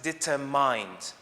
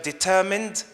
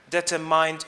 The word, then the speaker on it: determined: However, this word can never be pronounced as determined, or at least this is what I know from the dictionaries I consulted. So determined, determined, they are correct. Determined or determined is the wrong pronunciation here.